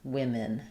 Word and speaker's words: women: So we have the I sound in both women. Women. And again, the min here is very short, similar to the schwah there, but because we have the i in the first syllable, women.